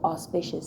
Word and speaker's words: auspicious: So all even though it's spelled a u a u r. When you just say all though is a w e. So auspicious something auspicious making you